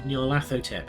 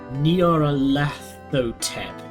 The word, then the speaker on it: Nyarlathotep: There's no official way to pronounce that name since it's a made-up nonsense word, but I prefer Nyarlathotep. Whatever, say it however you want. and say it and don't feel embarrassed.